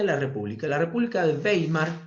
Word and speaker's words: Weimar: república la república de weimar que se escribe ueimar con w la república de weimar